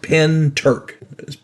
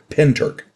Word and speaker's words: Pentyrch: saw something strange over her little village of pent Turk South Wales it's pronounced pent Turk spelled p n t y r c pent Turk now class Clark CL Cass Clark I'll get